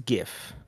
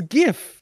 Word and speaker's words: GIF: it works it's Graphics so it's GIF you don't get to choose so that's my strong opinion that it's GIF and not GIF no I'm with you